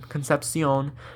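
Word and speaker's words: Concepcion: State Casey concepion was the guy's name concepion that's how you say it it's a great catch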